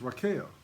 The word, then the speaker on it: Rachel: Actually, it's not Rachel, it's Raquel. I forgot about that. It's Leah and Raquel. All right, now that's cleared up. Verse 17. Leah was tender-eyed, but Raquel was beautiful and well-favored.